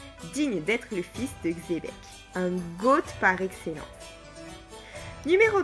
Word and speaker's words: Xebec: Pour commencer, Xebec ne se prononce pas Achebek mais Xebec, ou simplement Xebec.